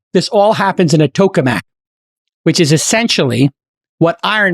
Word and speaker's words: tokamak: you shoot beams out of your hands incredible Tokamak the words cool Mac here's how you pronounce it t-o-w-k-u-h-m-a-k coca Mac this is what you're going to be hearing